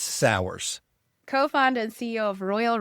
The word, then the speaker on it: Sauers: Yes, it's Sours, co-founder and CEO of Royal Restrooms and of Krugerg Bush Campers.